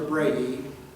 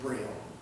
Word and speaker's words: Braille: was at all now I pronounced their name in the way that the French would pronounce her Brady but in English we would pronounce that Braille and that through this